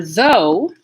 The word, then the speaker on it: though: like this though though it's like the word go no slow or focus focus so for though that diphthong vowel the o you'll also notice something about the beginning of this word it's voiced so as i'm pushing the air through the th sound at my teeth like this i'm putting voicing into it by activating my vocal folds here though though